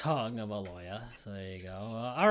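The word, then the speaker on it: Tagovailoa: He's to a tag along, not to a tagoya or whatever you say his name. Tongoya. Yeah, it's tongueoya.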